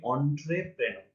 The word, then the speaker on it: entrepreneur: ওটা হচ্ছে অন্ট্রেপ্রেনার, ঠিক আছে? এটা খুব সম্ভবত ফরাসি থেকে এসেছে, এই কারণে উচ্চারণটা কিন্তু দেখতে যেমন হয় তার চেয়ে একটু আলাদা, তাই না?